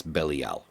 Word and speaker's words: Belial: saying it irks me it's not B it's bellal and a Google search will show you that